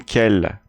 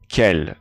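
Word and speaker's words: quel: have masculine and feminine singular masculine kell plural scale same pronunciation same pronunciation for the feminine you notice that i'm not saying i'm saying k just like the masculine form and in the plural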